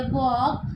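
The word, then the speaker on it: walk: Third में देखते हैं वॉक, तो उसमें एल साइलेंट है।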